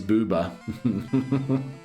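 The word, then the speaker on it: ブーバー: Fun fact, Magmar's name in Japanese pronounced Boober. Yes, it is Booba.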